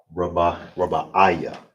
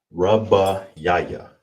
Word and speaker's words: Rabbaaya: So how you say fourth is Rabbaaya. Rabbaaya. It's like that's how you say it. Rabbaaya. Definitely a little bit of a tongue twister.